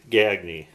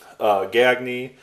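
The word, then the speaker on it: Gagné: So, Gagne, not Gagne. Eric Gagne is how you pronounce the Canadian pitcher.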